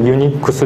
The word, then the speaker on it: UNIX: けども、これユニックスって読みます。